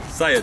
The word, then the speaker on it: Saiid: We're back with Saiid. That's how you say it, right? Saiid, yes.